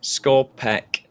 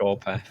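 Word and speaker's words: Skorpekh: Scorpec. Scorpec. Lord, I've Scorpec. always Just. said Scorpeth, I know you have.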